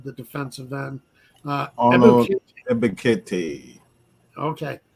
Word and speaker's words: Ebiketie: And I forget how you pronounce the second round draft pick's name, the defensive end. Ebiketie. Okay. Ebiketie.